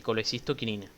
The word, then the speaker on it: colecistoquinina: Se pronuncia normalmente así, colecistoquinina.